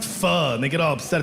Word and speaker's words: pho: It's spelled P-H-O, and people are like, it's pronounced pho, and they get all upset.